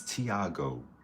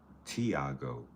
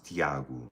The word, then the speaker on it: Tiago: It's Thiago. T I A G O. You can pronounce it in English Thiago. In Portuguese is Thiago, but it's the same thing.